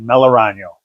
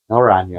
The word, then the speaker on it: Melaragno: My last name is pronunciated Melano. Melano. Melano.